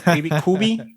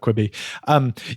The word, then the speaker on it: Quibi: Is that how I even pronounce it? Quibi? Quibi, yeah.